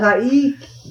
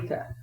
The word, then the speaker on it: Taika: Taiki. No, and I might be wrong. No, you're wrong. Okay. You're Taika. butchering it horribly. Taika.